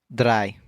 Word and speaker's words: drei: 3 is going to be drei. Drei. Kind of like that drei sound, but it's kind of hard to, roll that R when it's just by itself. But altogether, it's drei.